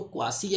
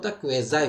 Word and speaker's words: quasi: उच्चारण बहुत सारे लोग इसको क्वासी या क्वेसी बोलते हैं। इसका करेक्ट प्रोनाउंसिएशन जो होता है वो क्वेजाई होता है।